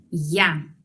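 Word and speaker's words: я: verlas en la pantalla yo en ruso es ya vamos a pronunciarlo y ya tú se pronuncia como ti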